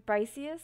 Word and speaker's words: Briciusss: I'm Briciusss. That's how you pronounce my username.